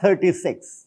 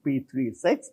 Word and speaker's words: p36: here where is P36 it is not 36 never pronounced as 36 this is P36 that is in P